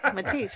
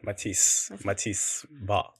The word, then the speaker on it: Mathys: How do you say Matthias? Mathys, right? Mathys. But yeah, Solanke, for me, I rate him.